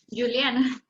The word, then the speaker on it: Juliana: Licenciada Juliana, así se pronuncia su nombre, disculpe. Juliana.